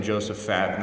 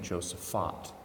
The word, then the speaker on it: Josaphat: Joseph on Josaphat I grew up saying Joseph Patton and I was sternly corrected by someone who went to a parish in Chicago they pronounced it the st. Joseph font so that's what we're